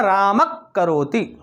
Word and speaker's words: रामः करोति: ठीक है, अब इसका उच्चारण जो होगा रामक करोति, रामः करोति, रामक करोति। अब रामक करोति क्यों होगा, क्योंकि का के पहले विसर्ग आ गया और यह विसर्ग आधा हो जाएगा।